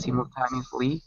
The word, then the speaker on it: simultaneously: Here's the problem. Okay, tell me why. What's the first syllable? C. No, it's not. No? Remember what I said earlier? If a vowel is alone, if it ends a syllable, we say the name.